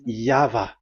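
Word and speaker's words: יהוה: Pronunciation is equal V. It is V. Y H V H. So it is YAHVAH.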